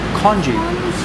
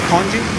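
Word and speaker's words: congee: Oh, Konji. What's konji? In English it's spelled C-O-N-G-E-E.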